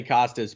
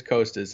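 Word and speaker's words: Kostas: really work on because I want to say Costas, but it is Costas, and I feel like I've gotten better at that. Right, but that's literally in the pronunciation guide. It just says coast, like as in the coastline.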